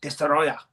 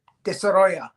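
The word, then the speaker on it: Destoroyah: That's how they say it. Destroyer. Destroyer. Like it's Russian. Destroyer.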